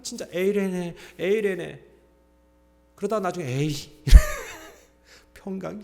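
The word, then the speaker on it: εἰρήνη: 여러분 평강이라는 단어가 뭐 어떤가면 헬라어로 에레네라고 읽거든요.이 평강의 반대가 뭔지 아세요?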